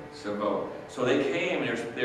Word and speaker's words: Shavuot: also on this time Shabbat. Say again. Shavuot. Did I say it right? Okay. Shavuot.